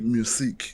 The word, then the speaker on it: Museeq: So the pronunciation is Museeq IQ. Museeq, yeah. Museeq. Oh, Museeq. yes, Yeah, Museeq. Museeq. Yeah, ngibonile nendlela elibhalwa ngayo. It's like Museeq.